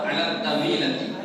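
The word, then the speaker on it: الطاولة: কিতাবুন ওয়া কালামুন আলা তাবিলাতি। আলিফ লাম। না ওটা ওই বোর্ড লড়ছে, ওটা নড়ার কারণে এটা হচ্ছে। বোর্ড নড়ে যাচ্ছে। আলা তাবিলা, আলিফ লাম, এটা লামটা উচ্চারণ হচ্ছে না, শামসি।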